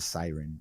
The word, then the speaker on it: Seiren: It's called the Siren, although it's spelled like Seiren, I think.